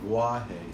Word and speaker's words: Wahe: The other words are Wahe, which is kind of, it's actually Wahe, so it sounds like a V and a W together, but Wahe is fine.